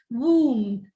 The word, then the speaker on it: womb: is not realized it's lamb womb tomb the bur is not realized now this word listen